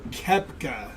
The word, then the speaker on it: Koepka: Koepka, there we go.